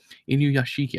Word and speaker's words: Inuyashiki: Inuyashiki, I think is how you pronounce it correctly.